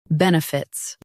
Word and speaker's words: benefits: Both US and UK have the same pronunciation of this word, benefits. Now read the syllables shown on the screen naturally. Ben. Fits, benefits. Stress ben and keep light. Fits is quick.